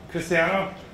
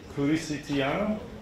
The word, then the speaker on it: Cristiano: I'm Cristiano, or Cristiano, if you want to pronounce it the Japanese way, I think.